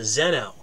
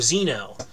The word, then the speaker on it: Zeno: more genuinely scientific, and that is Zeno, or Zeno, depending on how you say it. That depends on your accent, I suppose.